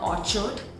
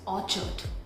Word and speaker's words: orchard: This is not orchard, it's orchard, orchard. So how we say aw like this.